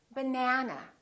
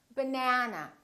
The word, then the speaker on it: banana: For example, if I say the word banana, banana has 3 syllables. Let's take a look. So we have banana. This second syllable is stressed. That means this vowel is going to be much longer. Repeat, banana, banana. So the a is going to be prolonged. Let's look at another word